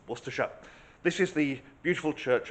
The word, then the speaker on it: Worcester: across well maybe now you know how to pronounce wera this is the beautiful Church of St Mary